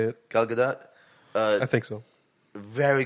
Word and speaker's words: Gadot: Galgadot.